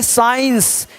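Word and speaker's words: science: इसका साउंड नहीं ए रहा है यहां देखिए साइंस क्या बोल रहे हैं साइंस तो जैसा सी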